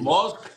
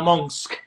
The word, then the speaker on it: Musk: Me encantó, por ejemplo, cuando Maracorina salió a hablarle a Elon Musk para que Maduro aprenda a pronunciar, se dice Musk, no Monsk, como trata de pronunciar este individuo, ¿no?